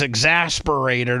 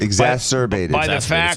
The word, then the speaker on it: exacerbated: Like this, the flooding was exasperated, or whatever the hell you call it. Seth said right. Okay, Seth, say it again. Exasperated. Exacerbated.